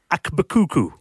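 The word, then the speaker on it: AkBKukU: Now, well, I don't quite know how to pronounce his name. Okay. I think it's Akbakuku.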